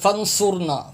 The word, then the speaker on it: فنصرنا: اور صاد بے سو۔ اب یہاں بھی لوگ سین پڑھتے سیڑھی کی آواز نکالتے، فنصرنا فنصرنا، یہ غلط تلفظ ہے، صاد ہے، صاد را